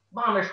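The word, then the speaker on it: ממש: This word is pronounced mamish.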